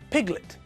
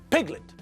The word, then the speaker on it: piglet: Now, when we look at the second word, piglet, we can see the same thing. The apostrophe is in front of the first syllable, which tells us that the stress is on the first syllable. Piglet, not piglet.